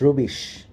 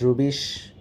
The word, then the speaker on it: rubbish: So people living in Yorkshire always pronounce the sound U, I mean the letter U, as U. They do not pronounce it as A. So in case of rubbish, they will always pronounce rubbish.